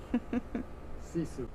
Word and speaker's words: sisu: Sisu.